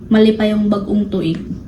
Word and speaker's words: Malipayong Bagong Tuig: Malipayong bagong tuig. Malipayong Bagong. bag on twig.